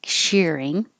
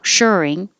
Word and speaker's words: shirring: How to add elastic shearing. No, shirring. Yeah, shirring.